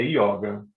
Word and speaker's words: yoga: você vai falar da yoga ou yoga a pronúncia correta é yoga existe uma necessidade a internacional de americanização da